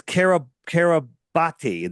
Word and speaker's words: Kiribati: And so it's Kiribati. That's how you would pronounce it, but that's how it's spelled.